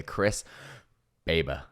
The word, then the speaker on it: Chris Baber: are here with Chris now I had to pronounce his name correctly here Chris babber that's the one yes I got it correct